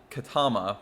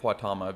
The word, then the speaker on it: Quatama: It's one stop from the one I actually live at, and it's called Katama, but they say it Quatama because the fact it's QU and it's English, so they say Quatama, but I would say